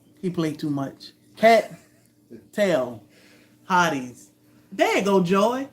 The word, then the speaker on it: Hardee's: Oh, is it Hardee's? Yeah. Oh, so what do I say? Hardee's. Hard ease. Like a group of pretty girls. They need to rename. They need to respell that restaurant to Hard Ease, just like that. HARDEES. That's how it sounds. If you actually sound it out. Hardee's. Mm-hmm. Yeah, not D's.